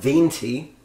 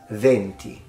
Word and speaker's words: venti: Winds of coffee maybe does mean wins anyways pronunciation it's not venti it's venti Venti venti and this connects to our last